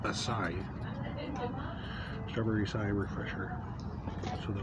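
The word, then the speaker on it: açaí: Strawberry, apparently it's pronounced Asai.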